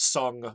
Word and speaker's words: Song: In 1000, China was ruled by the Song dynasty. You can spell it either song, like singing a song, or sometimes sung, like you had sung a song.